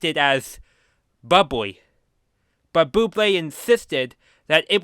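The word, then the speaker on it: bubly: customer and a convenience store clerk who properly pronounced it as Bubbly.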